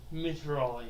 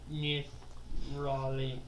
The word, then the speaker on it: Nithrali: Mithrali. Nithrali. Nithrali. Gosh dang. Spelled like Mithral, with an I at the end and the M is an N. Nithrali.